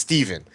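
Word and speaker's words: Stephan: He says it's pronounced Steven. You don't pronounce ph as a v.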